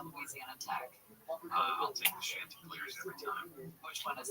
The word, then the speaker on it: Chanticleer: It's pronounced Chanticleer, not Shan.